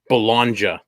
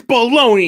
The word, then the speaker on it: Bologna: Bologna was spelled and he was calling it balanza yeah and uh well I you know it's it's spelled B'Elanna basically and that his dad when his dad saw that he's like it's Bologna you idiot like for those